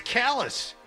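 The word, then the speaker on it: Calais: I think it's Callus. I swear to God, I think it's Callus. I've heard that way and pronounced Klay, so we'll take both.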